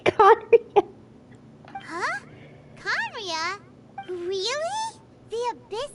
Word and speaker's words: Khaenri'ah: I have to say, that's one of the only words that I pronounce correctly. I know how to say Khaenri'ah.